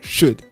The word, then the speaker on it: should: um pouco puxado mas na forma padrão esse l não sai só sai assim ó should should should good w o should